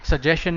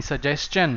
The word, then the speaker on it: suggestion: Okay, suggestion नहीं, suggestion.